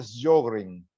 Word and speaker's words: Sjögren: Ustedes han oído hablar de lo que se llama el síndrome de Sjögren. ¿No han oído mencionar? Síndrome de Sjögren. Se escribe S-J-O con los dos punticos, apóstrofe, o sea, G-R-N.